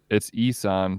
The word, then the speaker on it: Ihsahn: It's Isan, but it's IHSAHN. Oh.